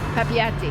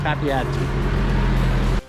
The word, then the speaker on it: Papeete: Papeete. Papeete. The local buses are a fairly modern fleet, run about every 15 minutes to half hour from the front of the resort down to downtown Papeete.